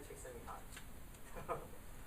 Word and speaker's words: Csikszentmihalyi: corrected me and just the right way to pronounce his name, Mihai Csikszentmihalyi.